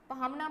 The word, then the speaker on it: पहुना: पहुने, पहुना बोलते हैं कई बार, तो सही प्रोनाउंसिएशन उसका पहुना होता है।